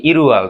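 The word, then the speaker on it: 일월: প্রথমটা কি হবে ইল উয়াল মানে কি ইরুয়াল, তারপরে কি ছিল ই উয়াল মানে কি 2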